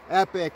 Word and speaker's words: Epoch: in that way but this is spelled epoc h epic and this is the